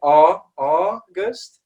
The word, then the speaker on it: August: some people do struggle, especially with this AU sound. A lot of people want to pronounce it as an ow, all right, just like it is in Spanish, but it's never going to be an ow, all right? It's always going to be an ah, okay?